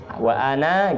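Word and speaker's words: وأنا: salah ketik, seharusnya nunnya itu panjang, ana gitu, bukan apa, itu nunnya kan nun biasa, nun itu gandeng sama alif, jadi ini nunnya panjang, digandeng sama alif, ditambah alif gitu. Nah, wa ana gitu bacanya.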